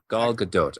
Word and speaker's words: Gadot: first photo of G I think it's GDOT is that how you pronounce your name or is it I was going to bring that up it's actually G GDOT Gadot okay I I just